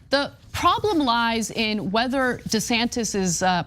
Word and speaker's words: DeSantis: So the problem lies in whether DeSantis is pronounced DeSantis or DeSantis.